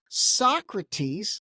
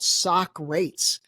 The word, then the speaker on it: Socrates: And the company, here's the funny part, it's spelled Socrates. So the big question is, I initially thought Socrates, and then I showed it to someone else and they're like, no, it's called Socrates.